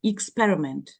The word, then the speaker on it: experiment: still a tricky one the word experiment both in American and British English the first letter pronounced as e experiment Elite but expert expertise